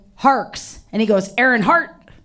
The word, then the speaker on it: Harkes: name right and um it's hars and some people think that it's heart and I'm like you know it's a common mistake like I wish my